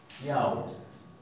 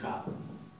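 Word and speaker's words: já: Yau. Yau, no vamos a decir ja.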